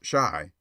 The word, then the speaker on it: Chi: Though I remember having met the following: Molder Blackie, Painter Red, Shy Plumber, Boiler Maker, Sailor Boy, and Printer Bow. C H I, pronounced Shy by the way, is the argot for Chicago.